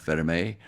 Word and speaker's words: Vermeil: It's actually pronounced Vermeil.